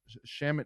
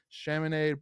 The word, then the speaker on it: Chaminade: But I know, especially with you, being, with your high school being, the Shaman. I'm sorry, correct me how to say it. Chaminade Madonna Prep. Chaminade College Preparatory.